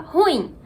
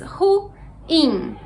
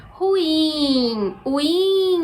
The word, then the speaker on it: ruim: soa mais natural porém as fontes oficiais costumam indicar a pronúncia correta sendo com duas sílabas ruim e aí a gente pode pronunciar devagarinho para observar melhor ruim a sílaba mais forte